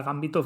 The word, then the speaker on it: gambito: en el diccionario y resulta que no, que sí que es verdad que no tiene acento, no tiene tilde de esdrújula y sería Gambito, ¿Qué va?